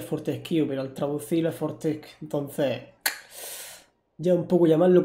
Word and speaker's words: Fortesque: A ver, aquí con Fortesque hay muchas dudas, porque en español, claro, es Fortesque. En español. Pero en inglés, el que no existe, o sea, el que se pronunciaría Fortesque realmente. Entonces ya depende un poco el idioma, ¿no? Digamos que la forma oficial sería Fortescue, digamos.